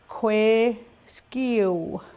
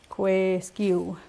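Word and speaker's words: kwêskiw: I make round W as in EU. Okay. Kwe skiu. He, she, it turns around. Kwe skiu. Again, it goes into Gueskiu, phonemic pronunciation. Do not add the sound after iu.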